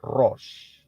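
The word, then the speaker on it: ראש: Shin itu bunyinya ya pronounciationnya atau pengucapannya adalah Ros Kalau saudara ingat kata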